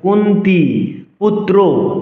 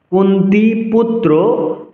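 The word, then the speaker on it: কুন্তীপুত্র: রাজা পরবর্তী অংশ আছে কুন্তি দীর্ঘস্বর কুন্তি পুত্র আবার দীর্ঘস্বর পুত্র বলা যাবে না পুত্র কুন্তি পুত্র ইউষঠিরা পরচছি না কুলা হ্যাঁ আপনারা ঠিকই লক্ষ্য করছেন।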